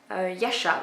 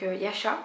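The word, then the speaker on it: Yascha: personnage principal qui est Yasha. Je crois que ça se dit comme ça. Hein, ça s'écrit Y-A-S-C-H-A. Donc Yasha, je ne sais pas si ça se prononce différemment, bref.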